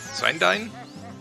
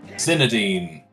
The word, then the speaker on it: Zinedine: Zindine? I'm not sure how to pronounce that, I'm sorry. Zinedine. Zinedine, oh right! Like the soccer player.